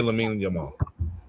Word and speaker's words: Lamine Yamal: I would say Lamine Yamal.